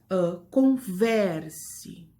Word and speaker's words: converse: Por exemplo, na palavra converse. Escutaram? Converse. A sílaba tônica é o ver.